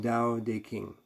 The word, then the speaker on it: Tao Te Ching: spelled depending on your spell t-a-o-t-e-d uh it's pronounced dao de king usually it's changed over the years since i first read it when it was the tao te ching anyhow um the jane english translation i think